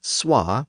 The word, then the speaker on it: swa: the North so Cher's Northern characters say things like SWA for so and alwa for Alo and TWA for two they simply retained the old English pronunciations another major north south